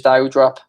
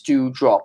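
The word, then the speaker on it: Doudrop: We thought it was Dewdrop. It's Dewdrop, it's pronounced. I don't know how it's pronounced that way, but it is.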